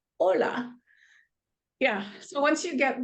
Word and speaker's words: hola: H sounds and then the hes are often silent like it's not hola it's hola yeah so once you